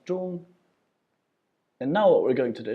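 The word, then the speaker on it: 中: This then is pronounced zhong with the first tone, zhong.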